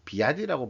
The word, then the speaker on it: BYD: 그래서 현실적으로 gm과 포드가 byd의 비아디라고 발음하더라고요 ktl 배터리 없이는 좀